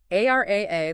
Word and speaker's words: AIRIA: AR AA, that's pronounced A I R I A, is the control plane for this new reality.